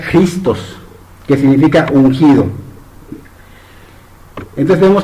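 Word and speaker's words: Χριστός: En griego significa, de hecho se pronuncia Christos, que significa ungido.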